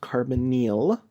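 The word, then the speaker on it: carbonyl: a r b o n y l is pronounced carbonal a carbonal group is anything that has a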